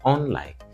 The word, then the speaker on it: unlike: Yes, and I said unlike, not unlike. So unlike is stressed on the second syllable.